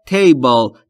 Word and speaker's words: table: در مورد تلفظ table دقت بکنید. Table یا table نیست. Table.